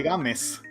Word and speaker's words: Gámez: nadie entienda mi nombre Mi nombre es Gámez porque games es mi apellido vale dicho esto Entonces sí tenía razón hace que se pronuncia games Sí sí porque en